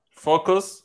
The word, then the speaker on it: focus: Focus, bogus. Is the same rule to pronounce, or almost the same. But that O is super important. Fo and bo.